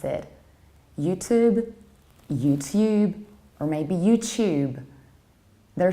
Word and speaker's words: YouTube: and you will hear YouTube, which is actually a typical British pronunciation. Because in British accents, we tend to palatalize T and we pronounce the word like tube, YouTube, tuna, student.